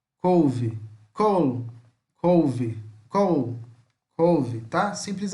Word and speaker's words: col: Col, couve, col, couve, col, couve, tá? Simples assim. Só quando for pronunciar o L, tenta dar uma puxada nele.